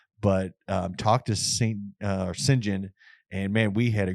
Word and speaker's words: St John: is actually the name it's spelled St and then space John I was saying yeah St John but it's Sinjin um Crainer uh I